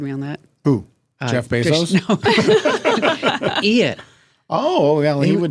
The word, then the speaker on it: Bezos: minute how do you say it Jeff what Bezos thought it was Bezos it's not Bezos I say basos Bezos yes it's Bezos all right you know who uh who corrected me on that who Jeff Bezos I oh well he would know he was